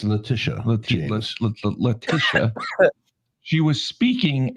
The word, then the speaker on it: Letitia: James Comey, Lenita James, our Attorney General. Letitia James. Well, I like Lenita better.